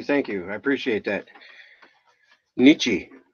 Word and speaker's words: Nietzsche: you I appreciate that Nietzsche so that's how you pronounce the Z sche so do you Nietzsche